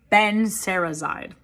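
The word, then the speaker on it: benserazide: in these videos because i know how to pronounce drug names benzerazide that's that's what it's called and conveniently these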